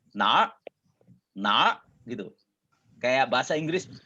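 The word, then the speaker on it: 哪儿: ini adalah nah eh dan pengucapannya disambung jadi satu ya bukan nah er tapi dibaca jadi nah nah itu kayak bahasa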